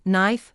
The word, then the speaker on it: knife: The letter K is silent at the beginning of knee, knife, no, knob, knowledge, not, and knit.